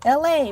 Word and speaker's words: Elay: I'm your host, LA, pronounced like LA, like the city.